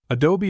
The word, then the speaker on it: adobe: Adobe is pronounced in 3 syllables, adobe, and is the Mexican